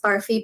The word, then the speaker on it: Barfi: So it's pronounced Barfi, but it's spelled BARFI.